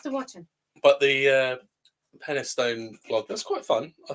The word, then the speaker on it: Penistone: It's pronounced Penistone. It is Penistone.